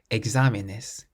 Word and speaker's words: exámenes: The word for exams has an accent on the A, so we say exámenes. Exámenes, stressing that part of the word.